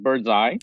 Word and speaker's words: Birdzi: right so what is birdseed doing how do you make money so first correction uh we pronounced it bird's eye bird's eye okay and